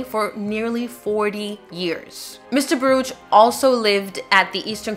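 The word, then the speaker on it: Baruch: pronounce his surname but in the transcripts he actually is asked to pronounce it and then they very helpfully written it out as baruj so if anyone thinks I'm mispronouncing it that's how mr. Burrage himself directed the court to refer to him so just so we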